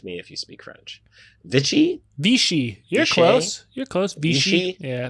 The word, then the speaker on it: Vichy: I'm going to butcher this pronunciation, but you'll have to just correct me if you speak French. Vichy? Vichy. You're close. Vichy? Yeah, Vichy.